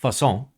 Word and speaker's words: Façon: So if this is French, it's pronounced façon. If it's other languages, it could be other we'll see.